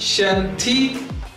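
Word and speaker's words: 身体: S-H in Chinese is pronounced as Sh. It becomes Shen Ti.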